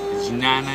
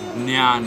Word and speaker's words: ज्ञान: भक्ति योग भक्ति योग ज्ञान योगा अन इट्स नॉट जन योगा इट इज ज्ञान योग राज योग राज योग